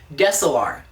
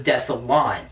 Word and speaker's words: Desilar: happiness in his staff, Desilar. In yet another example of confusing monster names and pronunciations, I spent most of this episode thinking it was Desilon.